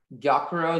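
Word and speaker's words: gyokuro: your word is giacaro um yokoro is this from japanese yes um yakiro can i have all the information please gyakuro is the only pronunciation it's a noun it's from japanese and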